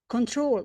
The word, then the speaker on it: control: Traveling control. The stress is on the last syllable.